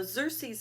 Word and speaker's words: Xerxes: of king cersei's now xerxes is spelled with an x which sounds like a z but we it still said xerxes now xerxes um was